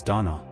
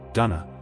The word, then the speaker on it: Donnchadh: sound like a soft rasp not a hard K. In English you'll often see it anglicized as Donna Donna or even link to Duncan in Scotland.